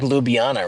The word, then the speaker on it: Ljubljana: Oh, it's kind of like Ljubljana, right? Like though J is like a Y.